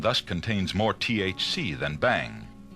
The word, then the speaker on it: bhang: The cheapest form of marijuana and the type containing the least THC is known as Bhang, B-H-A-N-G, Bhang, and it's derived from the cut tops of the uncultivated hemp plant.